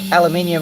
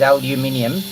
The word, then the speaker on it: aluminium: or nuclear nuclear or aluminium or aluminum the Australian PR pronunciation is aluminium but the Oxford dictionary says both pronunciations are grammatically correct you the young